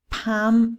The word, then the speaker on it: palm: l the next one palm and calm again no l not even a little bit okay so pam come